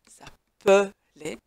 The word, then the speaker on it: s'appeler: Tout simplement parce que ce mot, enfin le E de s'appeler se prononce E, s'appeler, qui nous indique qu'il ne peut être suivi que d'une consonne simple et non d'une consonne double.